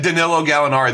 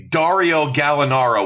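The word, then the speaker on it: Danilo Gallinari: He said Kenj said Kenjack said Danilo Galinari the second time. Yeah. Every time. Well, when we first though very distinctly hold on distinctly Dario Galinaro was the first guess. That's that is very wrong.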